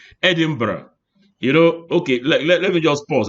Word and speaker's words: Edinburgh: They go Edinburgh. Bug go bite you. No, it's not Edinburgh, but Edinburgh.